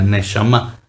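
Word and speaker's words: נשמה: una palabra que nosotros en hebreo conocemos como neshama. Así se pronuncia, neshama.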